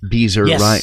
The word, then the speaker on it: Beezer: So you're interviewing Scott Beezer, rhymes with geezer.